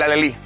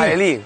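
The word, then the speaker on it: alhelí: Por ejemplo, el alelí. Mira que es bonito el nombre, alelí. A mí me cuesta trabajo pronunciarlo, alelí. Alelí, con su H intercalada, fíjate, picante, un toque picante nos va a dar.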